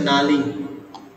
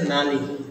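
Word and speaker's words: knurling: একটা machining process এই machining প্রসেসটার নাম হচ্ছে নালিং কে কে দিয়ে শুরু হয় কে এটা সাইলেন্ট থাকে এন ইউ আর এল আই এন জি এই মেশিনিং প্রসেসের নাম হচ্ছে নালিং নালিং ঠিক আছে এই নালিংটা কেন করা হয়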